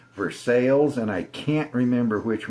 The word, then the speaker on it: Versailles: There's one that's in Versaille or I know how to say it, Versailles, and I can't remember which one it is.